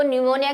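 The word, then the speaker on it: pneumonia: न्यूमोनिया की अगर आपको थोड़ा सा ध्यान हो तो न्यूमोनिया की स्पेलिंग पी से स्टार्ट होती है।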